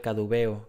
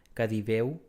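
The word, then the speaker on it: caduveo: El término actual cadubeo, que por otra parte se pronuncia cadibeu, es una corrupción del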